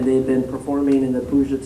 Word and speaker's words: Puget: How do you say it? Puget, all right. Puget. Puget? Puget, all right, thank you.